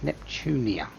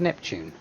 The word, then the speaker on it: Neptune: IF, Miss Compa and Miss Neptunia. I thought that was Neptune. Neptune and Neptune. Why can no one seem to say her name properly?